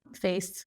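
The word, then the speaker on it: FAISS: so here I'm doing setting up a local face that's how you pronounce it Vector database and then here is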